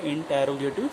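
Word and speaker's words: interrogative: अब देखिए, इस आर के पहले वाउल साउंड है तो मतलब इस आर का प्रोनाउंसिएशन नहीं होगा, बट इस आर के बाद वाउल साउंड है तो हमारा इस आर का प्रोनाउंसिएशन होगा।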